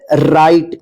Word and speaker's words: right: क्या रहता है GH का उच्चारण नहीं होता है।